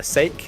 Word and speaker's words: Sake: sure to ask him it's sake not seek sake I was call seek for like a year or something yeah I think we'll